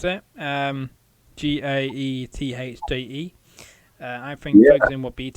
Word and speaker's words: Gaethje: But do you think Tony Ferguson's got a chance when he goes against the top contender, Justin Gaethje? Is that how you pronounce it? Gaethje.